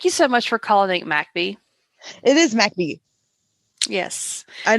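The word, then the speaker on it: McBee: like no no it's macbee like i'm sorry yeah i i love it when people say where um where is mcb yet i'm like it's mac b but it's spelled m m-c-d-b-e-e and it's mac and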